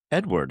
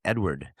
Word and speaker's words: Edouard: Is Dudley Edward. I know I'm not saying that correctly, but for stupid Americans, it's pronounced Dudley Edward.